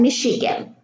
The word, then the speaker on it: Michigan: We have a CH here in machine, machinery, Manchester, and Michigan. So the CH, they are not pronounced cha, they are pronounced sha.